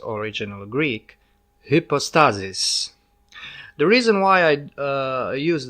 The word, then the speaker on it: hypostasis: we'll talk about term the tie will first pronounce in its original Greek hypostasis the reason why I used the Greek term